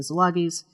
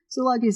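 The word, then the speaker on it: Szilagyis: I run, and that is history with the Zilagis. Zilagis is spelled S Z I L A G Y I S.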